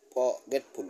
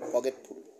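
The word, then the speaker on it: forgetful: কারণে আর এর উচ্চারণ হয় নাই এজন্য সঠিক উচ্চারণ হবে প্রনচুয়েশনটা হবে ফগেটফুল ফগেটফুল পকেটফুল পকেটফুল অমনোযোগী বা ভুলে যাওয়া নার্সারি যেখানে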